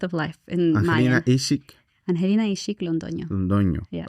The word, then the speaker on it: Ix-Ik: Okay, so the pillars for your company, which is the pronunciation sometimes you got this. But it's health and wellness, Ix-Ik.